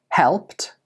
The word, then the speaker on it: helped: So a few examples are walked, helped, washed, and danced. Can you hear the t at the end of these words? Again, even though these words are spelled with an ed, they are pronounced with a t sound.